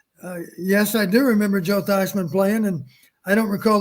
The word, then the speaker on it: Theismann: joe is it joke die is it joe teisman how do you pronounce the last name sizeman thousand runs with heisman okay this is before